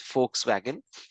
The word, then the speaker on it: Volkswagen: pronunciation for that is, although it is written as a V, the pronunciation, it has a f sound. So, it's pronounced as Volkswagen.